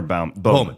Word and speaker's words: Bowman: It Bowman or Bauman? Bowman. I've been mispronounced. It's Bowman.